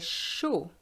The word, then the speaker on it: chaud: Il fait chaud. Be careful, the D is silent.